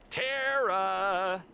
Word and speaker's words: Tera: you kind Tera oh do you ever think that maybe your name should be pronounced Tara I mean it's Irish right I don't know maybe I've been pronouncing my name wrong my whole life but I'm kind of